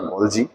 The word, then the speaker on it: গলগি: রয়েছে আমরা আগেও দেখেছি সেখানে গলগি বা গলজি দুটো উচ্চারণই রাইট তোমরা বইয়ের মধ্যে আবার দুটো ভিন্ন ভিন্ন উচ্চারণ দেখে বিভ্রান্ত হয়েও না এবং আমরা এখানে দেখতে